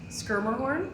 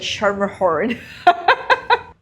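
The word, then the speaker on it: Schermerhorn: So and they're really really How do you pronounce that? Skirmhorn. Oh, I said I I was saying like Shermerhorn.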